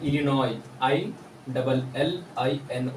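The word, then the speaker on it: Illinois: प साइलेंट है डी बी आर आई S silent है य पे इनोई I double L आई एन ओ आई इन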